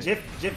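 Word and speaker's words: GIF: Jif is the correct pronunciation.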